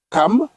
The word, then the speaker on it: Cham: Les fils de Noé qui sortirent de l'arche étaient Sem, Cham ou bien Cam. Oui. Parce qu'on prononce Cam.